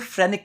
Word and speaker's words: phrenic: जो डायफ्राम की मसल होती है उसे बोलते हैं फ्रेनिक मसल। क्या बोलते हैं बच्चों, फ्रेनिक मसल।